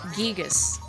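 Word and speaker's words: Giygas: earthbound is gigas but i read um a line from the head translator marcus lindbloom a while ago and he said the intent was to pronounce it gigas but whatever guys giga's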